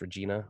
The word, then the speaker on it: Regina: We got Regina because from that video we made last night, my friend told me that's pronounced Regina, or maybe on the Oscars I saw it.